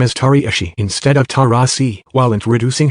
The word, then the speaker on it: Taurasi: Mercury star Diana Taurasi announced her retirement on Tuesday, ending a 20-year